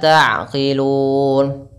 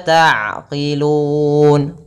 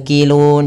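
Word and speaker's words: تَعْقِلُونَ: Afala ta'qilun. Qi, bukan kilun, jangan kaf tapi qi.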